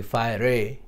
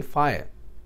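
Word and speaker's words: fire: फायर, फायर में एक है, क्योंकि आखिर ई जो है इसमें वो साइलेंट है, तो आप इसे नहीं कहेंगे फायर रे, आप कहेंगे फायर.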